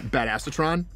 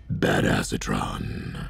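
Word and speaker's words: Badassatron: right now is um bad asatron which is actually pronounced bad acetron um we're going to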